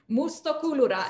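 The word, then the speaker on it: Moustokouloura: Mustokulura.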